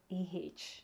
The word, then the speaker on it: Waizeh: How do you pronounce this Waizeh? It's Waizeh.